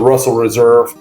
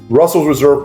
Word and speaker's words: Russell's Reserve: and this is the Russell Reserve uh this is their like I said I keep pronouncing it correctly but Russell's Reserve private Barrel selection it's